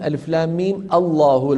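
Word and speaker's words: الم الله: وقيل أنه هي منقولة من ألف لام ميم الله، لو بديت بالله بتبدأ بإيه؟ بهمزة مفتوحة، فكأنهم نقلوا هذه الفتحة من لفظ الجلالة إلى الميم، فهي تنطق هكذا ألف لام ميم الله ميم الله.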